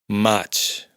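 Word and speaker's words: maig: Lo que debemos tener presente es que en la mayoría de casos la i de esta combinación no se pronuncia. Esta i es solo para indicar que la g se pronuncia j. Mach mayo.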